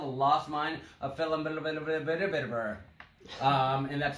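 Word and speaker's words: Phandelver: module this is called the lost mind of felon and that's how you pronounce it it has like 20 v's and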